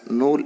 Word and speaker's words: नूल: इट is pronounced as नूल in Gondi language.